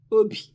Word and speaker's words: obi: The Igbo Igbo word for today is obi.